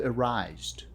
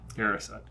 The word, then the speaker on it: Erised: And e The Mirror of arised. - [J] Erised. - Erised. - See, that was another mispronunciation by dad.